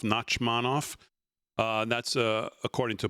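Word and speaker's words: Nachmanoff: Knockmanov, NAC, M- FF, I guess that's pronounced Nakmanov, Nachmanov.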